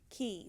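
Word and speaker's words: Quay: and then the blue is key which is spelled Q you a why it's British spelling so there's a better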